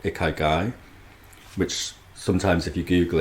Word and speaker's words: ikigai: I came across a Japanese concept called ikigai, which sometimes if you Google it appears as like a 4-way Venn diagram, 4 circles all interlocked.